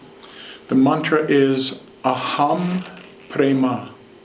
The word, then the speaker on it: prema: of this love the mantra is a hummed prema a hum prema it's spelled a H AM a hum prema peep